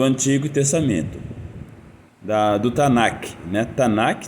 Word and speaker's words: Tanakh: Tanakh, 3 sílabas, Ta, Na e Ki. Ta de Torá, Na de Nevim, os profetas, e Ki de Ketuvim, os escritos, Daniel, e